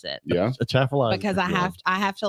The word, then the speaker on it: Atchafalaya: So many I have to look at Atchafalaya spelled before I can pronounce it. Yeah. Atchafalaya.